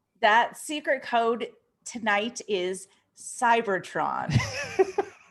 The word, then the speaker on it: Cybertron: That secret code tonight is Cybertron.